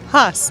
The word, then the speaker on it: Haas: Haas, like racing.